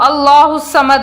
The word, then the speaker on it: اللہ الصمد: نہیں پڑھنا ہے۔ تو اللہ الصمد، اللہ الصمد، اللہ کے لفظ کو پر پڑھنا ہے صحیح تلفظ کی ادائیگی کے ساتھ۔ بعض کہتے